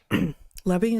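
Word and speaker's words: Levi: Lebby is how you pronounce his name.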